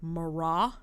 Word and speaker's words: Marat: Another leader in the National Convention is Jean-Paul Marat. It's, again, a French word, so that last T is silent.